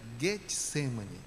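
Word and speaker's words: Getsêmani: Como a palavra Getsemane vem do hebraico, aramaico, e não tem o som de G, a pronúncia certa seria Getsemane.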